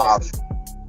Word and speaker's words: Hofstra: Hofstra. Hofstra, okay. Just making sure. I'm from the South and I don't pronounce shit right, so.